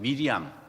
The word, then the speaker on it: 미리암: 마리아라는 참이 마리아라는 이름은 어 구약에서는 모세의 동생 미리암 미리암이 있어 미리암이 그 뭐랄까요 원어 발음이에요. 데 마리아가 히랍어로 돼서 이렇게